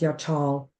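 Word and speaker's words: יחל: yachal it's spelled y a c h l pronounced yachal it's used 41 times in the Old Testament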